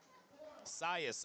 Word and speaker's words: Cius: And we've got Sirius Rivera, or Cius, I'll have to ask him how that's pronounced. Cius Rivera, 215 kilos, 473 pounds. Sias. Okay, I hear Big Gino in the back saying Sias, so we're going to call him Sias.